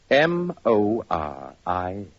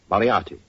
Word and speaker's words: Moriarty: People will either misspell it or mispronounce it. I'm afraid I'll have to begin calling it the way it looks. M-O-R-I-A-R-T-Y. Moriarty.